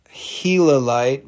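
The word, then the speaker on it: gilalite: other thing this is called helo light but it's spelled like gila light like the gila monster and this is a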